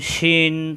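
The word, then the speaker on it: شين: তিন ফোঁটা তার নাম শিন তার নাম শিন আসসালামু আলাইকুম ওয়ারাহমাতুল্লাহ আজকের ক্লাসে আমরা শিখবো শিন অক্ষর শিন সহজ জিহ্বার মাঝখানে উপরের তালুতে শব্দে উচ্চারণ করতে হয় শিন সিন অক্ষরে উপরে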